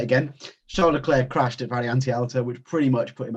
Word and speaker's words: Variante Alta: Variante Alta, is that right?